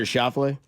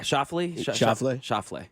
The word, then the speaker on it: Schauffele: Which one did I butcher there? Scheffler? Or Xander Schauffele? Yeah, Schauffele.